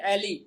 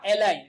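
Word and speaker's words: ally: दूसरा देखिए, दूसरा अर्थ जो फायर दैट इंजर्स और किल्स एनी एली या एलाई, दोनों प्रोनाउंसिएशन इसके हो सकते हैं।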